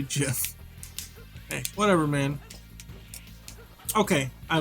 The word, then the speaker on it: GIF: was the original pronunciation i used to call it a gif but apparently it's supposed to be jim hey whatever man okay